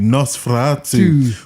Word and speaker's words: NOS4A2: It's NOS4A2. What the hell? And together, that spells Nosferatu. That's a wicked one. That is brilliant. Nosferatu. That is wicked. Oh gosh. Yeah, so NOS4A2, Nosferatu, who, for the movie